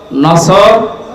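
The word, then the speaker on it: نصر: না মানে ইগল পাখি এজন্য তেলাওয়াত যখন করবেন উচ্চারণটা মুখ গোল করা লাগে আল্লাহ পাক জানিয়েছেন যখন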